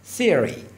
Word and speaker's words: theory: ببینید این علامت فونتیک که مثل صفر یه خط وسطش سه نقطه‌ای که نوک زبان بین دندون‌ها هست تلفظ میشه. theory theory theory یعنی نظریه.